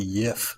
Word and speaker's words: Jif: that it will never be as smooth as Jif. That stuff has mega machines doing all the Jif. work, and there's You a pronounced it bunch of wrong. It's pronounced the to Yif.